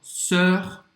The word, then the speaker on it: sœur: O som é igual. Sœur, cœur.